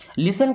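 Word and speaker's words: listen: इस लिसन word में दोस्तों टी साइलेंट होता है लिसन का मतलब होता है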